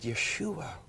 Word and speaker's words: Yeshua: us and that was the Hebrew is the Hebrew way to say his name and I said Yeshua it was so beautiful